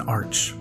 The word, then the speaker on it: Arch: in the description apparently an arc yes pronounced arc but spelt like arch is a disc that contains